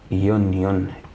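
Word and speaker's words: union: بص طيب بص دي يونيون كلمه يونيون معناها اتحاد يونون انطق ننطق مع بعض اول حرف ننطق اول حرف يونيون يو يو اه اتنطق اه لا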